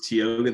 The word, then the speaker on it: Tioga: that sure so uh tioga is teoga the band um on instagram and tiktok um it's spelled t-i-o-g-a and then the band